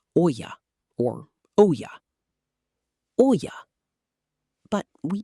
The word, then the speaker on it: olla: In Spanish, the term translates directly to clay pot, and it is typically pronounced olla or olla.